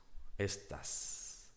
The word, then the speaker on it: estas: Are you is estás. These girls, estas, because it's feminine plural. ¿Estás con estas chicas en el grupo de voleibol? Are you with these girls in the volleyball team? It's very similar, but it makes a big difference, the pronunciation. So be careful and try to pronounce correctly if you want to